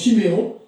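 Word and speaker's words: שמעון: Siméon, qui veut dire, ça s'appelle Chiméon, il se prononce Chiméon, entendu.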